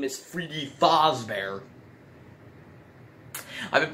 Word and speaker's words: Fazbear: thus bear which i realize now that i pronounced fuse bear as f o z b e r b e a r so actually his name is freddy fazbear i've been pronouncing his name wrong this whole